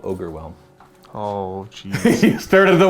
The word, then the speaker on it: Ogorwhelm: I think it's called Ogorwhelm.